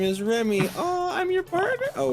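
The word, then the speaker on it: Remi: Yeah, but my real name in real life is Remy. Oh. Is Spelled cute.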